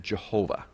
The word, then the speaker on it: Jehovah: of the covenant name they took the vowels from adonaia or adonai and they put them within the consonants of yahweh and when you pronounce that together you get jehovah so in reality jehovah